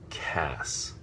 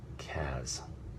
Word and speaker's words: Cass: they they spelled it C A which is hard C followed by the vowel and consonant cluster that makes the sound ass so Cass as opposed to C followed by a s which would make a sound as so it's possible that they were just trying to avert the catastrophe of having someone pronounce the diminutive form of my character's name Caz that's speculation whether that's